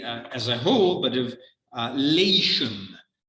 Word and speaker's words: Latium: a whole, but of Latium. That's how we pronounce Latium in English. Latium, Latium, that is the region in which, of course, in the future, Rome would be founded.